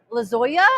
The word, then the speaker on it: Lozoya: But we are here at this right now to talk with Oscar Rene Lozoya.